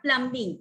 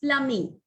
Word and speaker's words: plumbing: Plumbing, it's not plumbing, it's plumbing. The B is always silent.